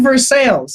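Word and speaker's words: Versailles: it gets worse we have laf we have ver sales that's how it's pronounced but then over to the to the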